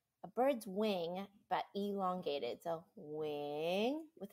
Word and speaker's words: Nguyen: I'm Nguyen, or Wing, if you want to say it proper, Vietnamese. How do you say it? Yes, that's how you say it. Wing. Yeah, like a bird's wing.